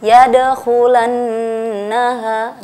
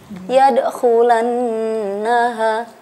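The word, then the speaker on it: يدخلنها: Yadkhulannaha, di situ ada nun tasydid. Nah, dan nun tasydid disebut dengan wajibul gunnah. Wajibul gunnah, wajib dengung. Jadi kita cara membacanya itu ditahan 2 harokat atau 1 kali ayunan.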